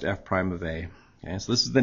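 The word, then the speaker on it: f′(a): This f with the little apostrophe and then the a, pronounced f prime of a.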